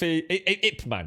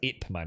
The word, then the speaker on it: Ip Man: off uh ip ip man it's actually pronounced it man isn't it yeah yeah everyone's